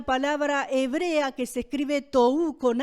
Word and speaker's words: tohu: vacía, que viene de una palabra hebrea que se escribe tohu con H intermedia, y bohu también, así como suena, significa confusión y vaciedad de esa palabra.